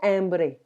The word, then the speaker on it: hambre: like in French visa tengo hambre we don't pronounce the H be careful of the